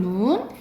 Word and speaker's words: 눈: 내리는 눈을 길게 발음해요. 내리는 눈.